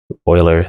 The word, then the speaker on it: Euler: Euler, that's how it's pronounced.